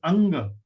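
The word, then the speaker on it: अङ्ग: So the pronunciation is Anga.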